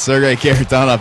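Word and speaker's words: Sergei Kharitonov: I believe it's Sergei Karatanov is the proper pronunciation.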